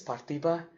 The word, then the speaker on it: Parthiba: First name is Parthiba. Last name is. It's actually 3 names kind of joined together. So. What's your nickname? Parthiba.